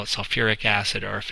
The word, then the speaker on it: sulfuric: an extra syllable so instead of saying it's selfic acid as our general format tells us you actually add the the syllable so it's sulfuric so you get the whole